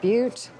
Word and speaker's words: Butte: I believe it's pronounced Butte.